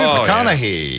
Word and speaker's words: McConaughey: How do you pronounce his name? I know who he is, but... Matthew McConaughey, is it? McConaughey.